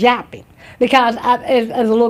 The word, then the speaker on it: Joppa: Um it was it's in the Bible like I said 12 to 14 times but it's pronounced jappy because as as a little girl that's what